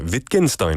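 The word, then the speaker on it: Wittgenstein: a quote by lwig wienstein um I hope I'm pronouncing that right lwid or probably lwig wienstein yeah viken Stein will be right a new word is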